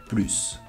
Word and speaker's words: plus: the meaning For exemple, PLUS if I do pronounce the last consonant, it means "More" but if i don't